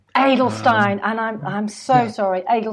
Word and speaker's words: Edelstein: calls me but my last name is actually pronounced in Stine a needle Stein and I'm so sorry